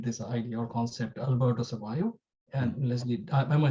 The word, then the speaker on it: Savoia: So again, Leslie is associated with the person who created this idea or concept, Alberto Savoio. And Leslie, am I saying it correctly? Alberto Savoia, that's fine, but I'll talk about him in a moment, so that's fine.